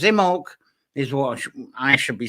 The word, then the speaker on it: Imbolc: uh and i say in bulk sometimes but uh the um the b is not pronounced actually and if you're actually